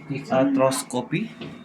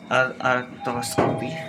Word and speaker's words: arthroscopy: Pronounce mo nga uli MJ. Ano? Syempre may ako dati pinagalan ko ah. Artoscopy. Yeah, arthroscopy.